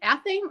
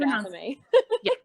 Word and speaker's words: athame: So it could be athame or it could be athame. I've always heard athame. People pronounce it both ways, and there is not a problem with either way.